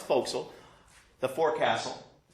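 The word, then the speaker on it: forecastle: the hatch it hurts hey folks okay it's pronounced fossil the four Castle it's a forward portion of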